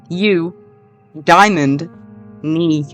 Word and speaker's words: Eudaimonia: say you diona and I have it in little parentheses on how to pronounce it as you Diamond me at least that's what